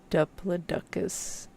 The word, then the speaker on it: Diplodocus: That one is sadly pronounced Diplodocus, and not funny way.